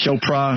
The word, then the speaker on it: Chopra: Deepak Shakur, whatever? Chopra. Yeah, Chopra. Shakur. What are these people called for? What does he do again? Tupac? No. This is the guy who's a spiritualist. Chopra.